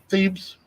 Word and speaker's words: Thebes: This area right here is called, how do you pronounce that, Dan? Thebes.